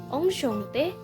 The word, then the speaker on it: enchanté: Je suis enchanté de vous rencontrer. Nah, tidak ada perbedaan dalam segi pengucapan kan? Tapi sama seperti informal tadi, untuk enchanté ada penambahan huruf E.